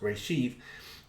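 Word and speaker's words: רֵאשִׁית: already existing translation of ray sheath hebrew beginning pronounced reshift this has nothing to do with pictographical meanings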